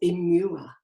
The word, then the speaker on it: Imua: And I was repeating a word that was imua. And I thought, that's very odd. So I looked at it phonetically and I did a search.